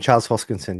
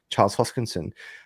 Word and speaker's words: Charles Hoskinson: I'm bullish on Avalanche, and also Phantom, But Cardano, I know that you've interviewed God, I can never pronounce his name properly. Hoskinson, Charles Hoskinson.